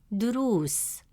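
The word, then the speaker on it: دروس: Since the long vowel wow comes immediately after ru, it stretches the short oo sound into a long oo sound. Instead of pronouncing it as ru, the presence of wow makes it ru. As a result, the correct pronunciation of the word is durus.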